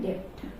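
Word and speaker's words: debt: important term है बैड डेप्ट यहां भी बी जो है वो साइलेंट रहेगा बैड डेप्ट बैड डेप्ट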